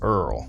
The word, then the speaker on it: IRRRL: I R R L pronounced Earl.